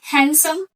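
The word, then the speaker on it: handsome: तो एडजेक्टिव के बारे में आप क्या बताएंगे, जैसे हैंडसम, डी साइलेंट रहेगा, याद रखिएगा।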